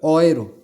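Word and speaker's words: Euro: এরপরে চলে আসলাম হচ্ছে আমরা পয়সায়, ডেয়ার অয়রো, অয়রো বলে এটাকে, ইউরো আমরা বাংলাতে বলি, কিন্তু এটার অ্যাকচুয়াল যে উচ্চারণটা এটা হচ্ছে অয়রো, অ দিয়ে বলে, অয়রো।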